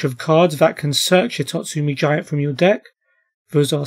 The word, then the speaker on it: Hitotsu-Me Giant: Yep, Hitotsu-Me Giant, not Hitotsu-Me Giant. Don't worry, I said it wrong my whole life as well.